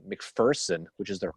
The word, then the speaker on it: McPherson: remember this he goes there is no fear in mcpherson that's what he used to say so what's big person that's how they pronounce it in gettysburg so i hope the